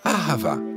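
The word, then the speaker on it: אהבה: pas à la règle on le prononce à ravin il s'agit essentiellement du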